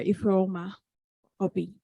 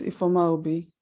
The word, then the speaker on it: Ifeoma Obi: Ifeoma Obi. Can you hear me? So sorry, I mispronounced your name. Yeah, it's Ifeoma Obi.